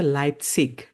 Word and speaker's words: Leipzig: আচ্ছা আচ্ছা ওকে একটা কোশ্চেন আছে এখানে অনেকে লাইপজিগ উচ্চারণ করে নট লাইপজিগ আচ্ছা, আসলে কি লাইপজিগ নাকি লাইপজিগ সঠিক প্রনাউন্সিয়েশন হচ্ছে লাইপসিগ, বাট লাইপজিগ ওকে 90% মানুষ হচ্ছে 80% মানুষ হচ্ছে লাইপসিশ বলে।